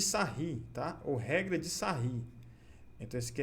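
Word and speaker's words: Sarrus: Ou regra de sarri. Então, esse aqui é regra de sarri, se escreve sarros.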